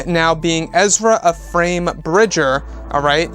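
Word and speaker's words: Ephraim: name now being Ezra a frame Bridger alright I believe that I you pronounce it it's spelled E eh RAIM a very interesting middle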